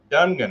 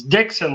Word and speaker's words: Dixon: Ryan Loganville and dunan am I pronouncing your last name right Ron like the p what's that it's Dixon like the pencil Dixon what where the heck